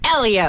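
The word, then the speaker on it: Hélio: And it's pronounced Elio.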